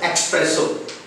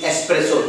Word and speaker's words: espresso: a dark black coffee and it is commonly mispronounced death expresso not expresso it is espresso there is no text in this world here